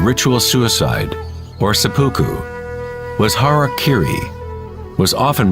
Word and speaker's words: harakiri: one form of ritual suicide or seppuku was harakiri was often mispronounced as Harry KY it means to impale one's Hara thereby cutting